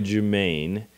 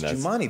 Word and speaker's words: Jumani: We used to call literally you Jumaine. Oh, it's Jumani.